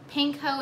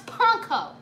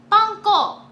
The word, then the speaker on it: panko: Pinko is the correct pronunciation, sweetie. No, it's not! It's fucking Japanese! I watched enough anime to know how the fuck to pronounce panko. Panko. It's a fucking Japanese word.